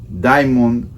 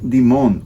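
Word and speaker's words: Dimond: Willy Colón y que su apellido lo han hecho de Mil maneras Demon Demon diamon pero realmente la pronunciación debe ser Mark demont o marcolino Digimon brujería es un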